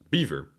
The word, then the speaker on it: Belvoir: he says good morning from the veil of Belvoir pronounced beaver As we didn't like the French way back here's a small donation